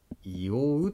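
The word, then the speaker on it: 硫黄: 石へんに流れるの右側と黄色の漢字でいおうと読みます。温泉の材料になっているあのくさい物質です。あれはいおうと読みます。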